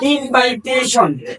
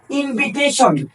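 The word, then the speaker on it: invitation: আই ও এম এটা আমরা বলে থাকি যে ইনভাইটেশন এই ইনভাইটেশন যে বলি এটা কিন্তু ভুল এই ইনভাইটেশনটা হলো ভুল উচ্চারণ এই ওয়ার্ডটির সঠিক উচ্চারণ হলো ইনভিটেশন এই ওয়ার্ডটির সঠিক উচ্চারণ হলো ইনভিটেশন ইনভিটেশন মানে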